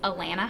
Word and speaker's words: Alana: My name is Alana and my name rhymes with banana so Alana banana works too.